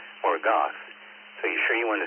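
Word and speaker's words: Morgoth: the forces of Valinor, but the forces of Morgor. Thank you, Alex. Um, that's obviously Hastings. Well, I mispronounced that second group in C. It's not more gorge. It's more goth.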